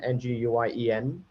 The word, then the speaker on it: Nguyen: It's spelled, and my last name is Nguyen, Nguyen.